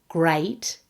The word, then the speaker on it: great: Great has a double vowel A. Great. And threat is actually pronounced with the short vowel e, just like pet.